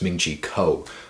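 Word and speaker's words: Ming-Chi Kuo: And man, I pronounced his name wrong again. It's Ming-Chi Ko.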